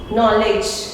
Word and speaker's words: knowledge: Knowledge, knowledge, D is silent.